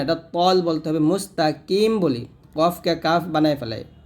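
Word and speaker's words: مستقيم: কি, মিম জবর মা, মুস্তাকিমাস। এসে কফটা হলো জিব্বার গোড়া উপরের তালুর সঙ্গে লাগিয়ে মোটা উচ্চারণ করতে হবে, মুস্তাকিম এরকম।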